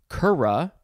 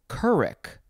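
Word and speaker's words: curragh: tiki taki tiki taki next we have kura or kurik looks like you could also say kurik it is spelled c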